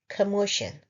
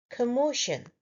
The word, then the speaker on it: commotion: Today we will learn the word commotion. First, the pronunciation. It's a three-syllable word. Commotion. Stress is on the second syllable. So we stress mo, commotion.